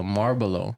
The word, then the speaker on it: Marlboro: But one thing that I found that was dope was the Marlboro.